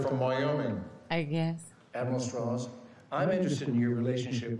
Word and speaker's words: Strauss: Strauss. It's pronounced Strauss.